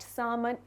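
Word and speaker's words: salmon: कौन सी land locked सामन एल is silent here तो सामन एक किस्म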